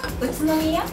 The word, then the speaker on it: Utsunomiya: There's a city that I don't know how to pronounce called Utsunomiya. Utsunomiya.